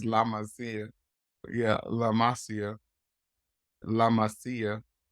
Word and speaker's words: La Masia: La Masia, I think is Barcelona's academy is called. I was an uneducated man. I like to call it La Masia, but it's La Masia.